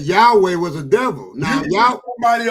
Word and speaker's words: Yahweh: But if you say Yad-Hey, Yad-Hey, then You that saying it wrong, Jay. It's Yahweh.